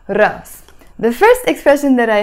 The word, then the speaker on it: راس: is a hamza but in Lebanese Arabic we drop that Hamza sound and we just pronounce it Russ Russ the first expression that